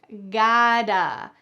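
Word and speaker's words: gotta: You can pronounce this gota. In American English, the t changes to a d. We gota get going.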